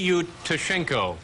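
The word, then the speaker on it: Yevtushenko: Anyway, the Russian poet, Yevgeny Yutashenko. Is that him, Paul? Yeah, that's the pronunciation, yeah.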